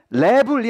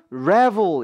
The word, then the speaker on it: travel: 그런 발음들이 말이죠. 해서 신경을 써주시되, 이것도 to travel이 아니라 to travel 이라고 조금 그 re라는 소리를 이러한 모음과 같이